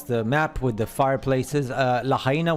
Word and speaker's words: Lahaina: Lahaina, which is pronounced Luch Hai Nuch.